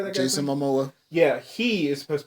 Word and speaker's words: Momoa: Jason Momoa.